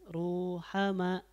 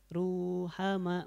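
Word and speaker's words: رُحَمَاءُ: yang ketiga yang terakhir Ruhama bacanya panjang ya dua rakaat Ruhama masih dapat dua harakat itu ya karena kita mesti memberikan haknya ya Ruhama nah oke itu Mad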